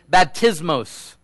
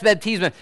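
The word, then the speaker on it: βαπτισμός: It is baptismos. For those of you Greek scholars, that's exactly how you're supposed to say that. You might have been saying it wrong all these years.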